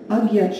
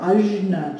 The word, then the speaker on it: Ajna: So when our Agya chakra, or Ajna chakra, depending on how you prefer pronouncing it, step that right leg forward.